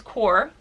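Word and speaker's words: Qor: so the brand is core it's supposed to be pronounced like c o r e um it's actually spelled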